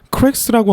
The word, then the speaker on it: cracks: 바로 이 단어 크랙스라고 하는 단어를 표현할 때도 이 S 발음을 정확하게 표현하고 넘어갑니다. 우리 한국 사람에게는 저렇게 S 발음이나 F나 V라는 발음이 중요하게 들리지 않을 수는 있습니다. 그러나 영어권 사람들에게는 저러한 디테일들이 정말 중요한 거예요.